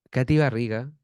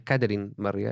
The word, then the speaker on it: Katy Barriga: exalcaldesa de maipú ya Katy barriga que de hecho si se escribe Katy barriga fue lo primero que que que salía la duda no es caterine barriga es cativa arriba pero